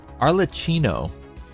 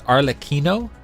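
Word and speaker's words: Arlecchino: my pronunciation and I I thought it was like for sure arlachino because like the double C would generally give us like the the CH sound and then there's a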